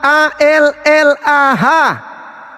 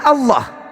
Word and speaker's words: Allah: Maksudnya ya maksudnya tadi saudara sudah melihat Allah A L a H. Nah, nama Tuhan dalam bahasa Arab. Bacanya itu apa? Dalam dalam kaidah aslinya bacaannya Allah. Kalian menyembunyikan identitas Tuhan kami dengan membacanya alah.